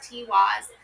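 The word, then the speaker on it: Tiwaz: Tiwis pronounced Tiwis.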